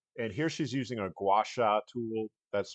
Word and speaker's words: gua sha: Um and here she's using a gouacha tool that's spelled gua.